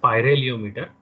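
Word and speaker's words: pyrheliometer: There is a small difference in the spelling and pronunciation. It's pyraheliometer, right? It's pyraheliometer.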